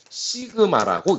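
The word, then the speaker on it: σ: 자, 이것을 읽을 때는 시그마라고 읽습니다.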